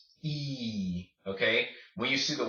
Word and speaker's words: y: this is interesting because when you see this letter by itself used as a word it just is pronounced he okay will you see